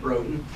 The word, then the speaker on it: Roden: How you pronounce that? Roden.